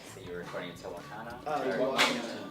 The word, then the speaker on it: Tehuacana: but you also, it's, how do you pronounce the town in Texas that you were recording in Tehuacana? Tehuacana. Tehuacana.